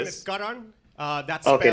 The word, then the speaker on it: Karan: Say it's pronounced Karan. Say Karan.